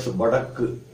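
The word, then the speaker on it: வடக்கு: Then for north, in Tamil we call it Badakku. It's Ba, Da, Ik, Ku. Badakku.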